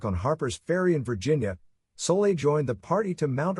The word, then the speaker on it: Soule: Silas Soule, pronounced Soule, was one of those people for whom the passage of time has not been kind.